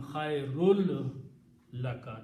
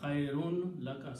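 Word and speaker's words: خَيْرٌ لَّكَ: into sound of lam and become khairul laka. That's tajweed. Okay, not khairun laka. Separately it is khairun, but when there is a lam after that, it becomes khairul laka.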